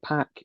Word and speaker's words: Pac: Worth noting that Pac is, or Park, depending on how you want to pronounce it, is the AEW All Atlantic Champion, and Osprey is the um, United A States.